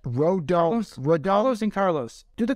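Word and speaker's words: Rodón: How do you say that? Rodon.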